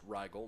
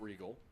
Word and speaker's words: Rygel: I beg your pardon the last name is pronounced Rygel not regal I don't want to